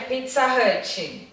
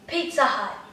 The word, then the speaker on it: Pizza Hut: Eu não sei como é que o brasileiro fala, mas eu acho que é Pizza Hut. Pizza Hut. Pizza Hut.